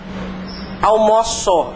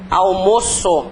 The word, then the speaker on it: almoço: eles têm pronúncia diferente se é o verbo como é que fica a pronúncia dele eu almoo a pronúncia aberta né agora substantivo o almoço a a a pronúncia é fechadinha né a pronúncia é fechada então eles são considerados